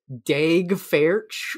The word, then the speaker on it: Daeg Faerch: He's played by someone with the most Tim Robinson name I've ever seen, which is Daeg Faerch, which is spelled DAEGFAERCH.